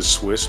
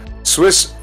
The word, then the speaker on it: Suisse: Swiss rescue deal entails 280 billion support. Credit Suisse. Swiss. Credit Suisse, spelled S-U-I-S-S-E. I think that's pronounced Swiss, right?